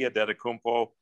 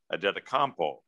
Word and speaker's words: Antetokounmpo: And I says, is it Adetokounmpo? He goes, well, it can be Adetokounmpo or it can be Adetokounmpo. And I says, well, which do you prefer?